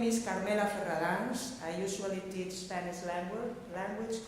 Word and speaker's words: Ferradáns: I guess Ferradáns is a little bit hard to pronounce with all the rolling R's and the soft D's and the vowels A, D.